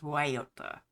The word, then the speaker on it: Guayota: And yes, I know, normally we would pronounce it in English probably something along Guayota, but in Spanish, it is Guayota.